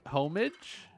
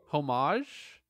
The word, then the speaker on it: homage: and one rat looking trophy got it it's pronounced homage homage hey Dan listo the game's okay super vehicle